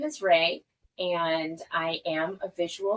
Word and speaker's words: Rée: we will go ahead is that how you pronounce her name sorry okay my name is Ray and I am a visual Storyteller like shashir